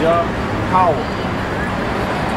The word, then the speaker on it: Yahweh: But the wa and the ha at the end is connected, so it's wa. So it's ya, how.